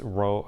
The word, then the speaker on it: rho: called this thing rho it looks kind of like p but it's pronounced rho r o h is